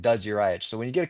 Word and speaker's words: Drzayich: spelled it's spelled like Dr zich and it's pronounced like does yourich so when you get a couple cocktails in